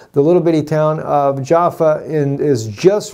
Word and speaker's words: Jaffa: a little place called Jaffa Yaffa, how you say it in the Hebrew language there.